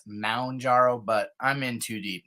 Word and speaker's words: Mounjaro: me that about half of YouTube calls it Mount gyro and that I call it moonjaro and sometimes I skip the ooh and I just go I've noticed that when I've I've heard myself say it like M apostrophe injaro it's not lost I mean I actually have called Eli Lilly and asked them question I know that it's Mound jarrow but I'm In Too